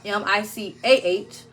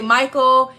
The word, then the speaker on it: Micah: son is Micah m-i-c-a-h a lot of people say Michael if you say his name incorrectly it's fine my own Mama did it for his first couple years of life so it's fine um but it's Micah like in the Bible m-i-c-a-h and Michelle and my